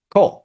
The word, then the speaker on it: Cole: So, let let me know if I'm pronouncing your name correctly. Cole. Okay, perfect. Cole.